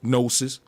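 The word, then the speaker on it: gnosis: root word of no they used to spell it GN o nosis these were the people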